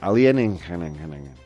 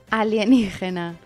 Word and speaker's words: alienígena: I'm going to pronounce that word correctly. Tell me it again. Alien. Alienígena. Alienígena.